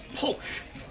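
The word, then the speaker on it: Pwyll: has a wonderful name his name is polk and it's spelt p w y double l so that tells you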